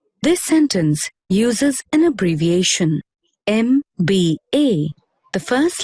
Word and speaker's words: MBA: Although M is a consonant, you pronounce it as M, which begins with the vowel sound A, and so the article an is used.